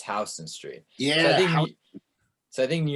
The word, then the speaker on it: Houston Street: I used to always say Houston, and my dad would always say it like Houston Street, and my dad was like, you cannot be a New Yorker if you say Houston Street. It's Houston Street.